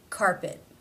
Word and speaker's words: carpet: It ends the word. It is not part of a consonant cluster. Therefore, it is a stop. Carpet.